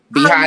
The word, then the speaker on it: Behati: So it's BEHATI beauty. BEUBEAUTY. All right, Behati, well, this is Behati, like Behati Prieslow, the model. I don't know which white guy she was married to, but Behati Prieslow.